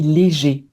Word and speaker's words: léger: Donc pour la prononciation, j'ai le sommeil léger.